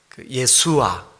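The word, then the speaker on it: ישוע: 또 후세야 또 예수 예수도 히브리어로 발음하면 예수와 이렇게 발음하거든요 그러니까 그이네 가지 호칭이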